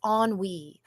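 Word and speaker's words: ennui: It's onwe. Onwei is spelled nui.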